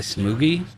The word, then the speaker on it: Smoggy: Like for Smoggy, it's technically like Smoogie, right?